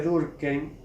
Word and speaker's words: Durkheim: Y creo que en Francia también, porque bueno, la H no suena en francés, pero como es judío sería Durkheim, ¿no? Bueno, es un detalle que dejo. Acá le decimos Durkheim desde siempre, no es